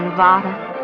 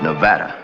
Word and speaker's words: Nevada: You dance very well for a man from Nevada. By the way, that's pronounced Nevada. I notice you give it the broad ah.